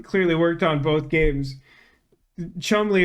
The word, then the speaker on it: Cholmondeley: Chumley is the pronunciation of Cholmondeley, which was, I think,